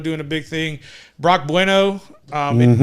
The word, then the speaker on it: Bueno: a big thing Brock bueno I mean it's not bueno like Spanish but that's just how you pronounce it I was listening to